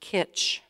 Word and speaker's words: kitsch: The word is pronounced kitsch.